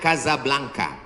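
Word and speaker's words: Casablanca: Ibu kotanya tulisannya Casa Belanca. Cara bacanya Kazablanka.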